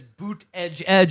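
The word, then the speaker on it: Buttigieg: campaign sells booth it tells you how to pronounce it which his boot edge edge it's like a phonetic what I thought it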